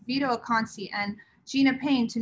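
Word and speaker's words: Vito Acconci: um touching uh xinhei i believe it's pronounced vito akansi and gina payne to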